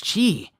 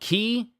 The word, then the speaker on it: Ki: and then Gohan goes, Why can't I sense Father's chi? and now, mind you, it's called Ki, K-I, but it's Chi. So either it's Ki or it's Chi. I'll call it Chi, how it's pronounced here.